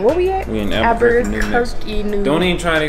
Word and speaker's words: Albuquerque: Albuquerque.